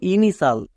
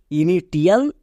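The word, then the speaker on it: initial: সাল কারণ আমরা জানি কোন ওয়ার্ডের শেষে টি আই এল থাকলে তার উচ্চারণ হয় সাল এটা ওয়ার্ড প্যাটার্ন তাই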